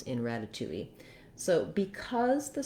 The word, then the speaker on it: ratatouille: up too much so you will hear a little bit of a wii at the end tui in this pronunciation of ratatouille then the first um syllable has a little stress so we do have the a black cat vowel there it does sound like the word rat or the word rad because